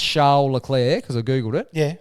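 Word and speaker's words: Charles Leclerc: how how's it pronounced charir so the second C the first C is pronounced heavily yep and the second C is just off turns out the work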